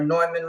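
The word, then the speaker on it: Neumann: nman mic the u87 Newman or noyman microphone how however you want to pronounce it they bought me a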